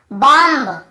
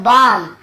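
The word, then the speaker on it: bomb: क्या पढ़ते हैं, कॉम्ब, बॉम्ब, थंब, डम्ब ऐसे पढ़ते हैं ना, ब का उच्चारण करते। लेकिन देखिए एम के बाद यदि बी है तो हमें बी को नहीं पढ़ना है, केवल कॉम।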